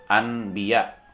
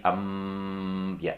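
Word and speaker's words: أَنبِيَاء: Misalnya anbiya menjadi ambiya, dan juga diikuti dengan dengung.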